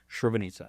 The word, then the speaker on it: Srebrenica: Srebrenica.